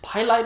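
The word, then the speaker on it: PALIGHT: There are popular brands that you can find at Home Depot and Lowe's, like I think it's Pilite, I think it's pronounced, P-A and the word light.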